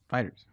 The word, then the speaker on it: FighterZ: pronounce it yeah and you've been saying it wrong Hansen fix me it's Dragon Ball fighters fighters also we learned that